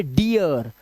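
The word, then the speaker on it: dear: तरह से यहां पर इसे डीर नहीं पढ़ेंगे अब डीर इसे पढ़ेंगे डियर तो आर पे आपको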